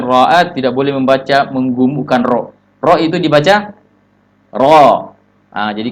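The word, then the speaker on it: ر: Itu namanya ro, itu namanya menggemukkan ro. Iya. Ro itu sifatnya nanti istifal, iya, tipis. Tapi tafkhim, iya, hukumnya tafkhim. Sifatnya tipis tapi bacanya tebal.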